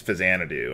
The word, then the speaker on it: Faxanadu: in the near future fanad or faxanadu or however you want to pronounce it uh when I was a child I pronounced it faxanadu but I didn't know about the Xanadu series that it's a spin-off of so I yeah I'll probably go back and forth between pronunciations but I think the technical pronunciation is fanad do uh yeah it's a